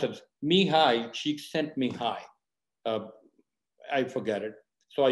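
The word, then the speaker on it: Mihaly Csikszentmihalyi: psychologist it's a kind of difficult name it's pronounced as mihai she sent me high i forget it so i usually write it so i remember so mihai she sent me high uh and he said it's a mental state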